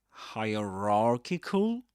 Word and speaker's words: hierarchical: Will you say um hier hierarchical hierarchical pronouncing the R both times hierarchical or you wouldn't pronounce the second bra.